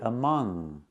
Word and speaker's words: among: than two use among I cannot pronounce the word among I cannot make the G sound when I see n g in this word I cannot say among we say among it's in your nose when you see NG